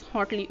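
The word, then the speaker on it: haughtily: The pronunciation is hotly. Okay, जो GH है ये क्या रहेगा students, silent रहेगा, and the meaning of hotly is proudly.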